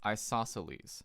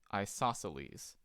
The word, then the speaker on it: isosceles: congruent this is pronounced isosceles so yes say that with me isosceles it's a Greek word that's why it sounds kind of strange so that's where two